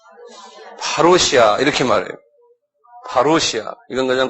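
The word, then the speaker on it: παρουσία: 한번 발음해보세요. 파루시아 이렇게 말해요.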